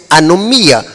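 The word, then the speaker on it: ἀνομία: mateo 723 para maldad es una palabra griega que se pronuncia a no mía esta palabra significa en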